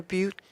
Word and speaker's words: Butte: with the Butte I'm saying it correctly the beaut beaut strong United choir the Butte strong United